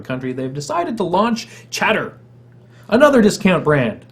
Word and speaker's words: Chatr: They've decided to launch Chatter, another discount brand. And if you follow Flickr, it's spelled the same way. Apparently, we've abandoned the letter E. CHATR.